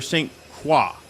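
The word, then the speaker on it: St. Croix: arriving in St Croy do you say it St Croy or St qua it's Croy right that's how you pronounce it I mean we say it that way probably if you were civilized you would say qua but we're not from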